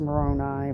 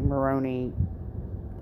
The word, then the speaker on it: Moroni: past life now remember i pronounced moroni moroney i just go with me guys um he